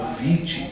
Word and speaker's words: vitae: Falam currículo vitae, né? Ou vitae, que é a pronúncia do latim.